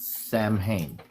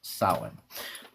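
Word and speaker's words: Samhain: You know, it's not Sam Hayne. It's not a first nor a last name. It's one word and it's pronounced sin.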